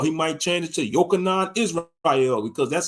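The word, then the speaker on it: יוחנן: You know, or he might change it to Yochanan Israel, because that's how you say, allegedly, that's how you pronounce John in Hebrew, Yochanan, you know, or Jonathan, John, you know.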